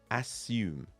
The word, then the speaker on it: assume: closely the word assume the first three letters a s s are pronounced as ass the second or last part of the word u-m-e is pronounced hume let's put that together now assume assume now you try